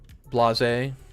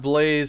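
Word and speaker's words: blasé: Blasze. Yeah, it isn't pronounced blaze.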